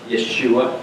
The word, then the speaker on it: Yeshua: Yeshua. How do you say Jesus in Hebrew? Yeshua.